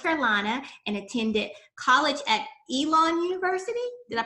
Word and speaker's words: Elon: chapel hill north carolina and attended college at elon university did i pronounce that right you did hi all right